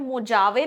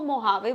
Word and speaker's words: Mojave: इसकी स्पेलिंग है MOJAVE, बट मोजावे नहीं बोलते इसको, मोहावे बोलते हैं क्योंकि स्पेनिश वर्ड है. स्पेनिश अगर आपने कभी पढ़ा होगा वहां पे जे को H वाला प्रोनाउंसिएशन होता है जे का.